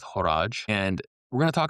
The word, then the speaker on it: Horage: And you might hear them pronounced Orage or like porridge, but I've heard both ways and I'm going with Horage.